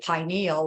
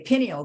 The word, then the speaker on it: pineal: I like to say pineal, like pine cone, because that's what our pineal gland looks like, is a pine cone. But some people say pineal gland, and I could see